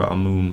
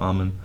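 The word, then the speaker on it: Amun: write articles i tend maybe more to favor our moon but when i write for the public i tend to favor amen i don't know it's there's one oddity that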